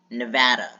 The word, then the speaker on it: Nevada: Nevada is spelled Nevada, but people say it Nevada. Where do you hear an O? Nevada. Where do you see the O? Where do you hear the O? It's not Nevada, it's Nevada.